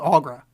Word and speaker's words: Aughra: Aughra.